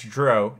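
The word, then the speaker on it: drow: good alliance dark elf or dro it's dro it rhymes with the word grow good aligned dro wielding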